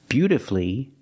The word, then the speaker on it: beautifully: But with words like these, masterfully, beautifully, and wonderfully, you have two syllables before F-U-L-L-Y, but the stress is on the first syllable. In this case, the U is silent.